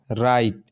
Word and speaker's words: write: अब राइट, WRITE, राइट, आर से start हुआ, राइट, डब्लू क्या है, यहाँ साइलेंट है।